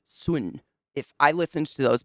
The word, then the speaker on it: Sun: The Brothers, it looks like the Brothers' Son, but it's Swin.